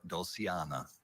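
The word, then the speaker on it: dulciana: Douliana. Can I have a definition? A soft toned organ flu stop having metal pipes of 4 foot pitch, 8 foot pitch, and 16 foot pitch. Doul or douliana.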